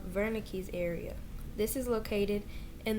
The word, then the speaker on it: Wernicke: and the other is wernicke's area it's a w but he's german so it's pronounced with the v broca's area is located